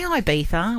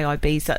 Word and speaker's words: Ibiza: Is because before the story, I was asking, how do you say Ibiza or do you say Ibiza? Like Nobody knows how to it has say a Z. It's IBIZA.